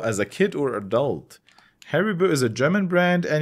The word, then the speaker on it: Haribo: didn't like harryville as a kid or adult haribu is a German brand and you can pronounce it as Haribo Haribo um Haribo is a German candy brand headquartered